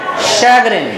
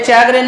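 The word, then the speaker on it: chagrin: अब ये है शैग्रिन, ये चैग्रिन नहीं है, ये है शैग्रिन। यहां शा से शलजम की साउंड है, शैग्रिन।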